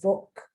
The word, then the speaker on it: Volk: In Germany, they pronounce it the Volk.